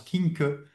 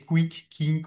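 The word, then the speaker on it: Quincke: Euh une remarque sémantique enfin que j'ai j'ai appris monsieur Kink c'était un allemand donc ça se prononce Kink. On a toujours prononcé Quick King ou voilà, c'est monsieur Kink, un allemand un médecin allemand qui avait qui avait décrit la maladie cette odème.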